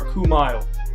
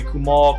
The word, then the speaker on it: Kumail: Trust me, It's short for Kumail. Now I'll put that across the screen. I mean, throughout all of school, throughout my whole life, I've had people call me Kumal, Kumail.